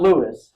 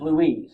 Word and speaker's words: Louise: Not Louis, pronounced Louise, okay, folks? There's an E on the end of it.